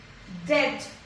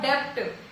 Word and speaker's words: debt: Debt. B is silent here. It is debt and not debt.